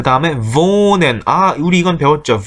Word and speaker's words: wohnen: 그 다음에 wohnen, 우리 이건 배웠죠. wohnen 언제 배웠냐면 처음에 그러니까 여기 모음하고 그 다음에 하가 바로 나오면 앞에 있는 모음을 길게 발음합니다 라고 하는 부분에서 장모음, 단모음